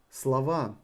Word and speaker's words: слова: Слова helps you to remember that the words in plural, the emphasis falls on a.